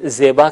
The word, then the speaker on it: زیبا: یہ باغ خوبصورت ہے۔ زیبا جسے ہم اردو میں زیبا کہتے ہیں، فارسی میں زیبا تلفظ کریں گے۔ اس کے علاوہ باقی